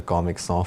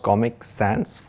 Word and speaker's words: Comic Sans: boring powerpoints that with a comics or font wait isn't that pronounced comic sans font hi everyone I'm with